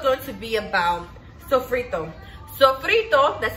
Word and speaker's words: sofrito: guys this videos going to be about sofrito sofrito that's how you say it so for it